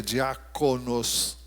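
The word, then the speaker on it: διάκονος: cerros a primeira é a palavra diáconos no Grego é assim que se pronuncia diáconos O que significa servo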